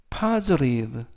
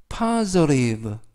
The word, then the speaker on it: positive: 이때 강세는 알파벳 O의 강세가 있습니다. 그래서 파, 그리고 S 발음은 이때는 스 발음이 아니라 z, 그리고 알파벳 T도 연음에 의해서 트 발음이 아니라 르, 그래서 positive, positive 라고 발음하시면 되겠고요. 품사는 형용사, 뜻은 긍정적인 이라는 뜻을 가지고 있습니다.